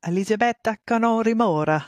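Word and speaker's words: Elisabetta Canori Mora: but uh who is elizabeta canori MOA MOA elizabeta Kori MOA that would be the uh more Italian pronunciation just uh really a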